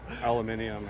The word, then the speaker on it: aluminium: hong kong are like aluminium and you're like you can get rid of the extra syllable imagine your entire life